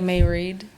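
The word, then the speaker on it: Mairéad: Myriad, if you're listening to this, I'm sorry. Like May Read. Yeah. May Read. Yeah. Yeah. Cool. So maybe it's May Read. I'm not even sure if it's called it's pronounced Myriad. I don't even know. May Read is a common Irish name.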